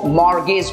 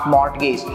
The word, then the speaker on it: mortgage: तो इसको मॉर्गेज बोलेंगे, नॉट मॉर्टगेज.